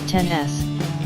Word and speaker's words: XS: is the iPhone XS pronounced 10s not XS as you might think it looks identical to